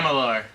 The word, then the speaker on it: Amalur: Could you pronounce it again? Amalur.